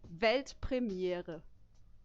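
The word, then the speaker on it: Weltpremiere: World premiere in German it's actually velt premiere Premiere yeah yeah it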